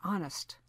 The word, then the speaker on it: honest: For example, the sometimes silent H in our or honest.